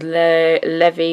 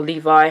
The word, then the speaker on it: Levi: That is Levi, or Levi, however you want to pronounce it.